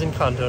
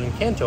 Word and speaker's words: Encanto: did find out that it is in kanto not in kanto i was saying it wrong earlier it was a great